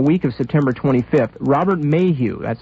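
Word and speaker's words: Maheu: later during the week of september 25th robert mayhew that's spelled m-a-h-e-u that's a name that crops up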